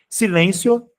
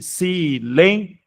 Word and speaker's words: silêncio: Silêncio ou silencio. Silêncio. Então, a pronúncia dessa última sílaba, dessa forma aqui, silencio, pode se dar.